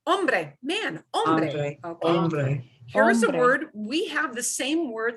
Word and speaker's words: hombre: can use that word the next one is one that that poor donald trump cannot pronounce correctly ombre unfortunately the hollywood has destroyed americans ability to say this word correctly because all movies about the old west all the actors mispronounce this all the time which is why americans mispronounce this word and then they're saying